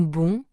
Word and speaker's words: bon: Dans bon, on n'entend pas le N.